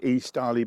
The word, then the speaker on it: Estarli: you know um yes these are called e Starly bikes using the name Starley but this spelled with an i so I'm taking this